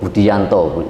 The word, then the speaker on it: Budijanto: Kalau nama asli itu Budianto, jadi tulisannya Budijanto. Tapi ejaan lama, tapi bacanya Budianto.